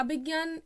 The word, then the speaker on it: अभिज्ञान: बाय अभिज्ञान अ के अभिज्ञान इसको promise किया जाएगा लेकिन इसकी स्पेलिंग लिखने में थोड़ी अलग लग रही है ऐसा इसलिए क्योंकि गिरावट को इंग्लिश में जे एन ए स्पेल किया जाता है इसके ऑप्शंस है